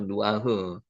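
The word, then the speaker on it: נוח: 누아흐, 여기 누죠. 우 발음이죠. 누아흐.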